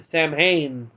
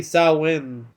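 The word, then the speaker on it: Samhain: wrongly called s s Sam ha it's actually SN which the H is silent but eh remember what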